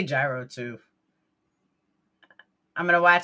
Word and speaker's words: gyro: The G is not pronounced like a G in Greek. Simply say ye and then row. You do want to roll your R rather strongly. Yro, yo, yo, yo.